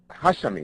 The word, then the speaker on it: Hashemi: of the Taliban government of Afghanistan s Mr hashami is that am I pronouncing that correctly Mr hashami that's corre okay thank you and Lauren Jenkins